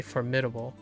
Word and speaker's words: formidable: Most people would say formidable. Oh, sorry. I missed the D. Somehow my D and my A turned into the same formidable. The stress is on the first syllable again.